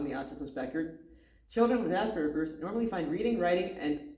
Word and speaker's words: Asperger: Asperers is pronounced with a hard G to rhyme with burger. Okay. Often people with Asperger use talk using words that are very grown up and advanced for their age.